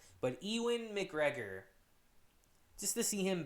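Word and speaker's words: Ewan: ewen mcgregor i always i always say his first name wrong i think i said ian mcgregor yesterday but ewin mcgregor just to see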